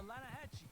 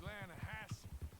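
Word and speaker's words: Lannahechee: rode down to the Lanahatchee I'll River. farm some for a bit. Beautiful steelhead trout. You mean the Lanahassee River? No. The Lanahatchee. It runs right near here. Yeah, but it's pronounced Lanahassee.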